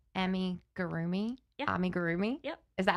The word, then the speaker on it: amigurumi: So what I found was that it actually originated, and I'm probably going to not say this word correctly, but it's called amigurumi.